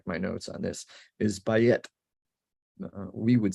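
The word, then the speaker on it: בַּיִת: have to check my notes on this is by it we would say b-a-y-i-t is how we would spell it in using english letters or whatever those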